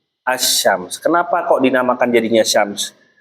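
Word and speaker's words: الشمس: Ee alif lam sama itu kan alif lamnya tidak terbaca kan? Asyams.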